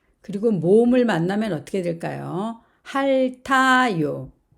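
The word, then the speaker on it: 핥아요: 할타요. 자, 앞에 있는 리을은 받침이 발음이 되며 티읕은 그 다음으로 이동을 합니다.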